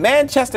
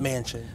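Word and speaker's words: Manchin: needed this needs to be blown up and manchester is that how you say his name mansion okay thank you because i don't try to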